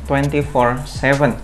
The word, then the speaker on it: Twenty47: Di video kali ini gue akan ngebahas initial review sepatu basket Under Armour 24/7. Nah, gue mau ngebahas sedikit tentang namanya, kenapa 24/7 dan kenapa gue cukup yakin cara bacanya tuh 24/7.